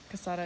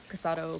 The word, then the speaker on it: casado: don't know about that quesada is married everyone everyone says quesada is married kasada is married oh sorry i said it wrong casato not quesada i'm sorry i spelled it wrong casado quesada whatever i'm sorry how do